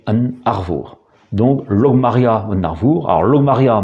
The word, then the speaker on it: An Arvor: En réalité, la prononciation avait continué à évoluer pour aboutir à la prononciation en breton moderne qui est An Arvour.